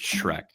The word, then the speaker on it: Schreck: It's just Shrek. like instead of the spelling of Shrek's name, which is s c h r e c k, it's just s h r e k like the ogre Shrek.